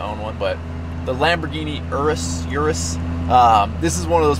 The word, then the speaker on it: Urus: How do you pronounce it? Urus.